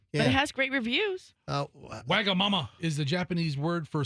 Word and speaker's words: Wagamama: you know we had a Wagamama?